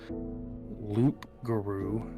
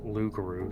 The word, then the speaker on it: loup-garou: When the Acadians were exiled from France, they brought the legend of the Loop Guru, pronounced Lugaru, sorry, to Nova Scotia and later on Louisiana.